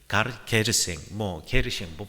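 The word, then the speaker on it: Garcin: 그 3명의 사람이 게르생, 발음은 여러 가지만 가르생이라고 하는 사람과 이네스와 에스텔이라고 하는 1명의 남자와 2명의 여자가 이 방에 들어왔습니다.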